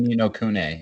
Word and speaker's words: Ni no Kuni: So yeah, I say Ni no Kuni, and that's the right way.